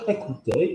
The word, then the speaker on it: écouter: The word écouter is spelled C-O-U. Ah, if we've got an O-U in the word, what are we doing, Stan? Lovely. Now, don't stress it. Just say it normally.